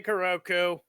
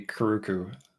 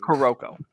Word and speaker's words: Kuroko: I meant to say Kuroku. Please stop calling me Kuruku. I will. He'll What the hell's stab your you. name? Kuroko. Kuroko. Okay, so I mispronounced it.